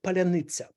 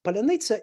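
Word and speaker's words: паляниця: say the Ukrainian word palaniza well let me tell you this ukrainians unlike Russians do not reduce vocals meaning that the Russians can pronounce the word just with consonants and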